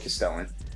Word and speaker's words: Castellan: So if we take a look at the Lord Castellan, remember, rhymes with repellent, not to be confused with the guy that was released last week.